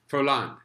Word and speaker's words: Furlan: Jason Stewart and you are messy food lon forlán that's how you say it you said it